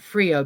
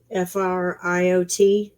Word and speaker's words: Friot: I always pronounce it Frio because I'm from Louisiana. What is Stephen's last name? How is the correct pronunciation for an Oklahoman? Friot.